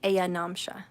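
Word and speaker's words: ayanamsha: the heavens la hiri it's spelt lahiri but it's lahiri ayanom shan which sounds like aya namsha okay so if you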